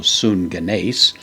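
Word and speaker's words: συγγενής: genesis by the way a double gamma will usually be translated or pronounced as an ng sound so sun ganes this so is based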